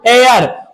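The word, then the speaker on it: heir: ई आई आर बेटा इसे हे आर मत पढ़ना इसे पढ़ेंगे ए आर क्या पढ़ेंगे एर और ऐसे भी यहां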